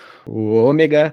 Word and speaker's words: ômega: A friend falou até o ômega já na pronúncia mesmo correta, né?